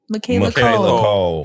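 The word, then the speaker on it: Michaela Coel: Michaela Cole. Michaela Cole. We got to partner her beautiful self with Michaela Cole for I May Destroy You.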